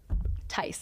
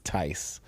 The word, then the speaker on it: Theis: Uh, the H is silent. Very similar to nice. So, Ty. Ty.